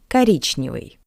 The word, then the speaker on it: Коричневый: O is unstressed. That's why we pronounce it as a. Коричневый.